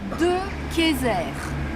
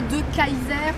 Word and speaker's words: De Kayser: Alors ça s'écrit comme ceci, mais ça se prononce De Kayser et pas De Kaiser comme on serait tenté de le dire dans notre région.